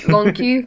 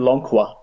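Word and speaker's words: Lon'qu: uh lonu I I I'm trying my best to say lonu because I know that's his name but I can't help but call him L because it just makes me laugh I used to call him Lona Lona just sounded silly to me oh he's so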